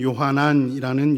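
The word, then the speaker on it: יוחנן: 여러분들이 잘 아시다시피 마가복음의 저자인 마가 요한은 그의 유대식 이름이 요한, 히브리어 발음으로는 요하난이라는 요한 이름이고 마가는 로마식 이름, 로마의 아주 흔한 이름인 마르코를 뜻하는 이름으로 마가라고 불렸습니다.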